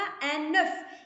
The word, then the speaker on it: œuf: وفي المذكر يا ربي في المفرد كتقرا ان نوف. يعني الا بغيت نقول لك بيضه وحده غادي نقول لك ان نوف بحال هكا ياك، وغادي نذكر هاد اف غادي ننطقها صافي.